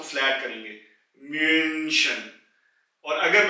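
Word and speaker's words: München: हैं यानी कि जो सिटी है जर्मनी की मशन मशन यहां भी यू यानी कि उ के ऊपर उलट है इसलिए इसकी आवाज को फ्लैट करेंगे मशन और अगर मैं उलट हटा दू तो यह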